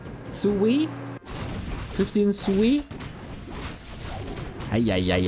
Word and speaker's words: Sui: Sue is closer to how you pronounce the name Sue. The name Sue. And the I is basically E. But it's difficult to put it together correctly without turning it into sway.